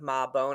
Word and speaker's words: Mabon: I think almost like MAH, like BONE, but there's obviously not an E at the end. It's Mhm. MABON, but it's almost like Ma Bone. I think that was the original way to pronounce it.